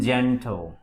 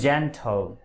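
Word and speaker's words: gentle: দেখতে পাচ্ছেন আমরা এই জি এর উচ্চারণ, আমরা প্রথমত জি এর পর যদি ই থাকে তবে সেক্ষেত্রে জি এর উচ্চারণ সবসময় বর্গীয় জ এর মতো হবে, অর্থাৎ জ উচ্চারিত হবে।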